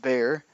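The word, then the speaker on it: Bexar: San Antonio judge of Bear County even though it's spelt with an X in the middle it's pronounced bear he always thought it was pronounced Beck sir I did as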